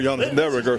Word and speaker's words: Derringer: That's a New Orleans pronunciation of Derringer. Derringer.